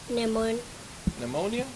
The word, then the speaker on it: pneumonia: However, he sent him home with a fever and he contracted Pneumonia? Mm-hmm. It's a P and the P is silent, I think, right?